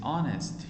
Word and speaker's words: honest: tell lies he is honest honest focus here not honest uh honest honest this h is silent honest omar is honest he never tell lies